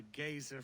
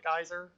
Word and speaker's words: geyser: essence will shoot out of you like a gazer from the depths of norway you laugh am